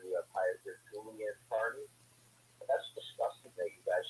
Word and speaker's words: Kearney: You know, I've always called him Aidan Kearney, amongst many other names, but I've called him Aidan Kearney. Yeah. You know, because that's how it's spelled, Kearney. Kear, not Kar.